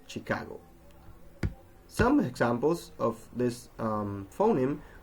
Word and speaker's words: Chicago: as sugar, sure, while other words that are written with CH are pronounced sh, as in chef or Chicago.